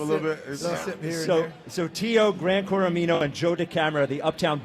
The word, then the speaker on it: Gran Coramino: Gran Corino, Gran Coramino.